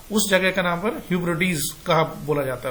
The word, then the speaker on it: Hebrides: कहां पर, among the फॉरदेस्ट जो नेक्स्ट वर्ड है HEBRIDES, लिखा हीब्राइड्स है, लेकिन इसका जो सही प्रोनाउंसिएशन है वो है हिब्रिडीज, हिब्रिडीज।